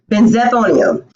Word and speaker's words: Benzethonium: Benzethonium. Now, we're going to say that one more time. Benzethonium. Benzethonium. If you put it all together, benzethonium.